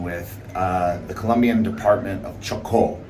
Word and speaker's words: Chocó: So, over the past few months, I've had this weird obsession with the Colombian department of Chocó, which I never pronounce. You have to really enunciate that O.